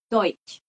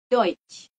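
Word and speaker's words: Deutsch: kita jadinya oiro kalau dch atau De ini bacanya gitu seperti apa jadinya ya Deutch jadi kalau kita mau belajar bahasa Jerman kita sedang belajar Deutch ya oke ee selanjutnya nih teman-teman sekaligus kita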